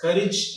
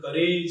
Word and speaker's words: courage: That is courage and heritage. Often we pronounce these two terms like courage and heritage.